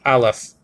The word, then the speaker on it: Aleph: is a an Aleph say Aleph al okay EF Aleph and that's a silent